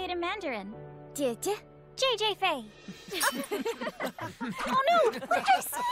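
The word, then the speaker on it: 姐姐: Jie-jie.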